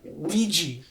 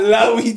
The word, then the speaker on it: Ouija: Ouija. I really Like was the- I was just hearing Luigi board. No, the Ouija board. Ouija. Not Luigi.